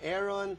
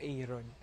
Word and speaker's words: Arron: would Call You aon Aaron do you correct them Oo naman dito po sinasabi mong ah Aaron po Aaron po Hindi po aeron okay but you don't